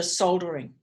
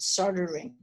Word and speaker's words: soldering: main constraint was the soldering I think you refer you pronounce it soldering we should say so we pronounce the L hmm and these solder